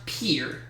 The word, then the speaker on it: Pierre: is Austin 300 state whose capital is properly pronounced Pierre what is South Dakota 400 though Augusta Georgia